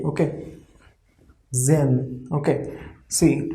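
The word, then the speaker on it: sehen: s after s e is coming like overall pronunciation will be z z okay zen okay see h we have wrote here but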